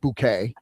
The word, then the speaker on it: Bucket: And she, of course, insists that their name is pronounced Bouquet. So she's Hyacinth Bouquet instead of Hyacinth Bucket.